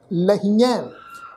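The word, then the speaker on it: ਲਹੀਐ: फिर है जी शब्द लल्ला हाहे नूं बिहारी की मात्रा, फिर ऐड़ा, फिर ऐड़े अखर ते दुलावां, फिर हाहा मिलवी टोन विच उच्चारण होएगा, लहिए कहिए लहिए।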